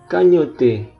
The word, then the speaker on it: cagnotte: Cagnotte, kayaknya bacanya kanyot deh, ini hurufnya nggak dibunyikan.